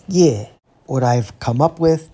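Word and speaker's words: 頁: It's pronounced ye.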